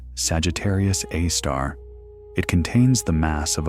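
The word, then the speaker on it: Sagittarius A*: We call it Sagittarius A, pronounced Sagittarius A star.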